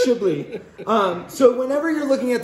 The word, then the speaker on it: Chablis: It's still pronounced Chablis.